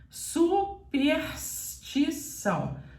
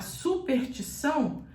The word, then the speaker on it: superstição: comum na nossa língua Mas você é obrigada a pronunciar todas as letras Então você diz superstição superstição assim é o jeito correto de falar se você falar superstição você está falando outra coisa em outro sentido não é superstição que